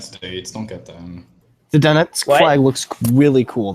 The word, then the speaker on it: Donetsk: How the fuck do you pronounce that? Donetsk.